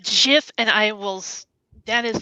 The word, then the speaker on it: GIF: was really that important anyhow except that it's pronounced jiff and i will that is the hill i